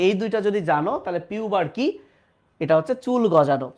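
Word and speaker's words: pubarche: ম্যানার্কি, এটাকে আবার আগের বইয়ে ম্যানার্চি বলতো, বাট উচ্চারণ ম্যানার্কি, পিউবার্কি, থ্যালার্কি।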